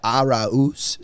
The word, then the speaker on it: Arauz: Yeah, Arauz. So that's how they pronounce it.